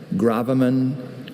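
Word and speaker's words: gravamen: Can you repeat all the pronunciations? Graan. Graammen. Graaman.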